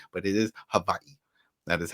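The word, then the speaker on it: Hawaiʻi: This is how you say it with a V instead of a W.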